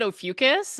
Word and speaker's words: Ophiuchus: there I pronounce it Ophiuchus, Okay.